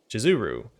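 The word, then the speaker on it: Shizuru: name of the goddess is actually spelled and pronounced jizuru or that misspelling is a great blasphemy how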